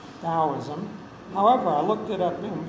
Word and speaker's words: Taoism: taoism so it's pronoun it's spelled with a t and pronounced with a d taoism however i looked it